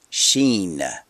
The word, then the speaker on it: shin: let's start with a Hebrew letter called the sheen spelled s h i n it looks similar to